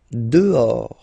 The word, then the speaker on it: dehors: Dehors. Okay, so remember final S not pronounced, and then this H in French doesn't exist phonetically, so you don't pronounce it.